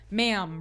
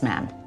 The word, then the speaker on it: ma'am: is how you curtsy ma'am rhymes with ham I remember that from The King's Speech it's your majesty the first time after that it's man as in ham not mom as in Palm do this do that